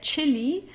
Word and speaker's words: Chili: Then here chili uh here it's pronounced just as in English as a ch.